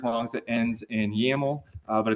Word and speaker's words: YAML: yaml right here the yml extension is pronounced yaml and this test.